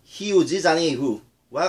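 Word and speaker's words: Rio de Janeiro: 우리가 많이 잘 아는 리오데자네이로는 브라질 말로는 히우지자네이후와 같이 발음이 됩니다.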